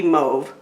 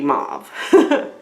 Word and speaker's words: mauve: we're talking kind of pinky move or pinky mauve depending on how you pronounce it so this the mobs